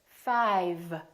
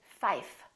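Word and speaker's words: five: 5. In some languages, that doesn't happen, and the common mistake would be for people to say fife. Give me $5 instead of give me $5.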